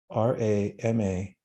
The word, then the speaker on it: Rama: And now as you're breathing, evenly, in your mind, mentally, see the 2 syllables together, R-A-M-A, Rama.